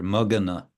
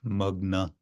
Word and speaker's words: magana: So we have another stretched word here, magana. This is adding a syllable to a word, otherwise magna, which means swimming or sinking.